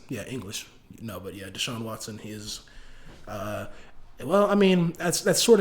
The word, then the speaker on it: Deshaun Watson: Yeah, that's how you pronounce it. Yeah, English. No, but yeah, Deshaun Watson.